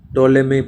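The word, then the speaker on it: Ptolemy: एज 123 AD when पटो lemme टोलेमी प्लटोमी B silent टोलमी from Greece described to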